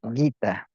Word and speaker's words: Gita: But maybe Gita, well, in Spanish, you'd have to put a U in front of the G, G-U-E, E, Gueta, like guitar. So in Spanish, it would be done like that. Guitar, you would spell it guita. Like take the R off of guitar, and you'd have the right way of spelling it in Spanish.